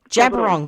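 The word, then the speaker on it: Djab Wurrung: B W Ur R U N G Jabberong. that's how you pronounce it.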